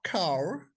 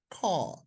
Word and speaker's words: car: In American English it will be pronounced car, but in British that will be pronounced with open approximation. They would simply say car. जैसे हम कोई चीज कहते हैं, खा भाई, खाना खा लो जी, खा। बस आर को गुम कर देना।